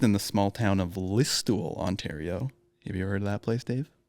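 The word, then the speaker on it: Listowel: a comedian raised in the small town of listul Ontario have you ever heard of that place Dave did he pronounce it right yeah listul perfect no I have not heard of events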